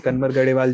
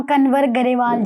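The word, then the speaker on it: कंवर ग्रेवाल: किया गया था उसमें कनवर गढ़ेवाल जी भी आए थे। तो मुझे एक्चुअली थोड़ी इस प्रोनाउंसिएशन में दिक्कत हो रही है। आप मुझे सही प्रोनाउंसिशन जी उनका नाम कनवर गरेवाल जी है।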